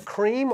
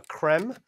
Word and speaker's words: Crème: so what is it it's called a cream or a creme depending on how you want to pronounce it oh wow look what